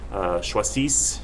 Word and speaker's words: choisissent: And then the il, elle for the they form of the verb, choisissent, you just pronounce it up until the other two S's, and then you kind of stop.